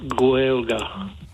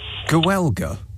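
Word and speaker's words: Gaeilge: Now, Nick, Gailge is pronounced Gaelga. It's the Irish language. Now, Gaelga. Yeah. I know it sounds weird, but that's how it comes out.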